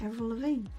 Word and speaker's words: Avril Lavigne: Avril Lavigne.